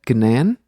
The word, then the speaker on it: Gnan: So I went with Gnan. All right. So that's right. It rhymes with fan.